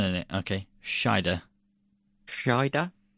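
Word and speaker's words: Scheider: name I don't know there's no n in it is there Sher oh did I give an n in it okay shider shider y I like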